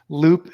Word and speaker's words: Loupe: the floor is yours uh cool so uh loop is spelled l-o-u-p-e so if you search that on